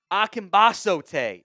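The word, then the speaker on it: Akingbesote: And then Tommy Ambasote is how you pronounce that one.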